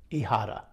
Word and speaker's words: ijada: the piedra de hihata ihada so the h is silent so i'll put the